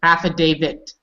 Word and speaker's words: affidavit: it not David David affidavit so people make that mistake they think they hear David but it's not David it's david all right so i